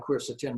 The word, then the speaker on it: quercetin: Looks more like quercetin, but it's pronounced like COR.